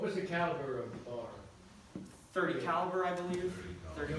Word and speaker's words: BAR: But yeah, so that is the BAR. People often incorrectly say bar, but it's actually pronounced with each letter separately.